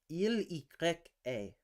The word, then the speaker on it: il y a: Duolingo French would pronounce that as il y a. Il y a. They would pronounce the full fucking name of the letter.